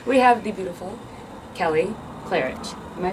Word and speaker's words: Klarich: really dope accent we have the beautiful Kelly clarich am I pronouncing that right you are okay wonderful oh was it clarich cleric no it's clarich it is clarich yeah man I I'm always wrong with the